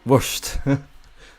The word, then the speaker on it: Worcester: I think I read somewhere that it should be pronounced Wurst.